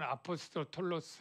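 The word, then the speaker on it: ἀπόστολος: 사도라고 하는 뜻이 뭐냐면 뭐 헬로는 아포스톨로스 뭐 이렇게 발음하는데요.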